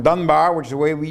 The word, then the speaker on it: Dunbar: He even pronounced it in a strange way, not the Battle of Dunbar, which is the way we usually say it, but the Battle of Dunbar.